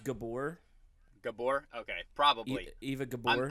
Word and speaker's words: Gabor: I think I had a crush on Eva Gaber's voice. I think that's what was happening. Yeah, I think it's pronounced Gabor.